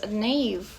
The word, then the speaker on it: knave: Mas knave, aqui mais um caso daquele que é KN, o K é mudo no início, são pessoas desonestas, pessoas que mentem, né, nesse sentido.